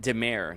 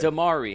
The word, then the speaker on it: Dimare: is a special occasion I'm with filmmaker De Mer did I say your name correctly sir uh Demar e but it's all good damari hey my name has a silent k so